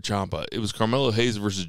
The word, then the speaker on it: Ciampa: I said Ciampa.